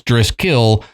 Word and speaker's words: Driskill: family so o d-r-i-s-c-o-l-l now the way the hotel and his name is spelled is d-r-i-s-k-i-l-l so it's dress kill not theodrescals or however